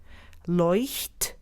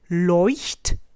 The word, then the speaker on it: Leuchtturm: Leuchtturm. Let's try it again together. Leuchtturm.